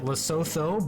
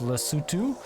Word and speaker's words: Lesotho: we are in lesotho i've been pronouncing it lesotho but i've been corrected many a time it's lesotho uh in uh an enclave